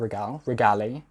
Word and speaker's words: regale: This is an Anthurium regale. I think regale is what I've been told to say it like.